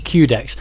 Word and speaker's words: Quedex: c64 shooters thank you the next game on this compilation is quedex although I've also heard it pronounced as qdex however the subtitle for the game is the Quest for ultimate dexterity so I think quedex is right anyway this was released